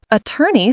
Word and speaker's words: attorney: Attorney stresses the second, attorney.